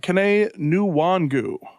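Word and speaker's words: Kene Nwangwu: slaughter it but uh caney new wangu yeah and that's the that's the pronunciation i saw spelled out so i'm gonna go with that one um he's interesting he's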